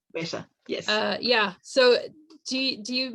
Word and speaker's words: Weta: Weta. Weta. Weta, yes.